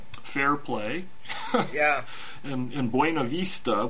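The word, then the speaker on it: Buena Vista: Fairplay yeah and in Buenavista which they pronounced buna vista which really rankles me but and then looking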